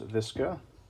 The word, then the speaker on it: VSKA: is a century arms visca which if we flip the rifle over as you can see vska or visca as i believe how they pronoun pronunciate it a little bit of